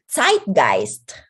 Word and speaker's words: Zeitgeist: So remember in German, when you see the letters E and I, pag magkasunod yan, it's pronounced as I.